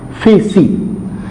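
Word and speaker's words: φύσις: ये जो वर्ड आपके सामने मैंने लिखा है, basically this one इज a Greek word है, जिसको प्रोनाउंस जो हम करते हैं वो है फेसी.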